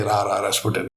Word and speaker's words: Rasputin: You can't just say Rasputin. You say, "Rasputin."